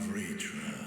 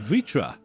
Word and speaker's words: Vritra: I am Vritra. Vritra. And I've been for pronouncing it years wrong.